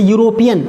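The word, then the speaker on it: European: और जैसे यूरोपियन, ये भी यू से ही हो रहा है, इसमें ई साइलेंट है। क्या है? इसमें ई साइलेंट है, और इसमें यू की आवाज़ यू आ रही है, यू की आवाज़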